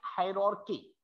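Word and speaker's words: hierarchy: आर सी एच वाई, इसको हम pronounce करते हैं टेक्सोनॉमिक हायरार्की, हायरार्की, ठीक है।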